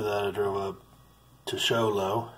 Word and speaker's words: Show Low: here then after that I drove up to show low it's pronounced Yolo I questioned it and it was